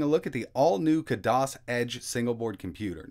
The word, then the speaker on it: Khadas: look at the all-new kudos edge single board computer now I know some people pronounce it a little differently but I've always said kudos so that's what I'm sticking with so the board I